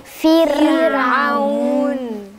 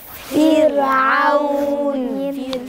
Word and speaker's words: فرعون: واحنا قلنا مكسور عشان مكسور، يبقى الراء في وسط الكلمة وقبلها حرف مكسور. ساكنة في وسط الكلمة وقبلها حرف مكسور، حرفها قبلها حرف مكسور، هتبقى مرققة. انطقها ازاي؟ فرعون. فرعون. فرعون.